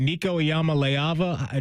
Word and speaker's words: Nico Iamaleava: Is it Nico Iamaleava?